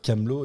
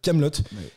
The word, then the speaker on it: Kaamelott: Le second T a été ajouté sur demande d'Alexandre Astier, qui souhaitait insister sur la prononciation du T final pour éviter de dire Camelot. Il fallait bien dire Kaamelott.